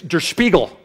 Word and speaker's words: Der Spiegel: came up with this he even taught me how to say the name of the magazine because i couldn't even do it it was der spiegel right but with a lot more spit and and it basically